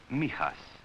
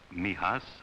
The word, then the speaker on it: Mijas: near the southern coast it is pronounced Mijas for most of my boys Mijas outside the window there